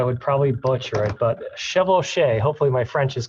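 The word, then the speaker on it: chevauchée: So yeah, chevauché, you pronounced it correctly.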